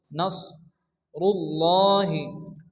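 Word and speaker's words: نصر الله: সদ পড়তে হবে এবং এ অক্ষরটিকে মোটা করে উচ্চারণ করতে হবে নাস নাস রুল্লাহি এখানে আল্লাহ শব্দের শুরুতে কি আসছে র এর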